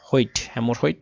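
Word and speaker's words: hemorrhoid: দেখুন এখন একটা খুব সুন্দর কিওয়ার্ড আমরা পেয়েছি, হাউ টু get right of হেমোরিহোল্ড skin tag. আচ্ছা এই শব্দটার উচ্চারণ হচ্ছে হেমোরহোইড স্কিন ট্যাগ।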